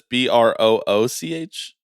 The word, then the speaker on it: brooch: Right, but aren't I thought they were kind of both pronounced the same way.